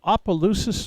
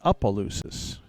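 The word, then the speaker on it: Opelousas: And it's not Apollois, it's Apaloosis, I was told. Even though it's spelled O P E L O U S, the O is like a U at the beginning.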